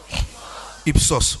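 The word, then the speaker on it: ὕψος: Quelqu'un dit avec moi upsos. Upsos. Tu ne prononces pas bien. Non, ceux qui ont acheté un S prolongé, c'est pas ça. Reprenez. On dit quoi? Ipsos. Voilà.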